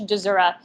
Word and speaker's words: Dziura: It's Polish, Dziura. That's not how you pronounce it in Poland, but that's how we pronounce it.